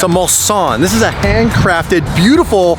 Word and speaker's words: Mulsanne: Bentley Mulsanne. Mulsanne. It's Yeah. a Mulsanne.